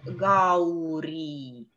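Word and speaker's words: गौरी: И точно так же в слове с дифтонгом «ау» – «гаури». «Гаури». Гаури, гау, ау. Ау – это дифтонг, это цельный звук.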